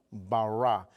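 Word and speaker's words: בָּרָא: el hebreo en el en el hebreo se se dice barra Cómo se dice dígalo conmigo bará y bará lo que significa es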